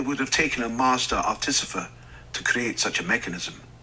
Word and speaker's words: artificer: I've never heard it pronounced that way. Artificer. Did he say? Oh, artificer. I think is how he pronounced it. Interesting. I always pronounced it artificer.